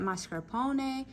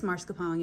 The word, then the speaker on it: mascarpone: I don't really smell a lot of that mascarpone, and I say it that way because that's how you say it, but it's mascarpone, y'all.